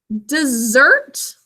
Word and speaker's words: dessert: So dessert sounds like the word desert, like the family deserted their camping spot.